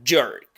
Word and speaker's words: jerk: Esta palabra se pronuncia con y, que es el mismo de general o Janice. Y enseguida tenemos un sonido muy característico del inglés que se llama E abierta redondeada.